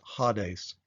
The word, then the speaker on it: Hades: a brief tour of Hades or as the Greek text would have us pronounced at ha days ha days was the